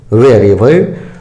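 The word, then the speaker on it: wherever: वेयर एवर, जहां कहीं भी, जहां भी या कहीं भी। वेयर एवर, वेयर एवर, वेयर एवर, इसको ईवर नहीं पढ़िएगा।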